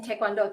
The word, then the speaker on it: Taekwondo: Many people may not understand there are 3 syllables in Taekwondo.